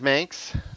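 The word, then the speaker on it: Manx: uh uh the Myers Ms rhymes with Spanx um oh yeah looks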